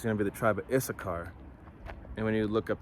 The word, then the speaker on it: Issachar: be the tribe of issachar and when you look up the tribe of uh issachar and the Hebrew I mean it's Yasha shakar which means he is